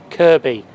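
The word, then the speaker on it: Kirkby: to take a ride to the station better pronounced right before the Cs go crazy Kirby we're going to take this Mery Well Service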